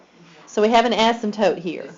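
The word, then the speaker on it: asymptote: funny you pronounce it ASM toote the p is silent so we have an ASM toote here sounds funny okay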